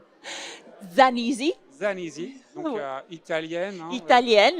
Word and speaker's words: Zanisi: À côté de vous, Francesca Zanisi, comment on le prononce dans la langue d'origine ? Zanisi.